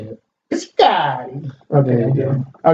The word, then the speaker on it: Piscotty: Actually, Piscotty.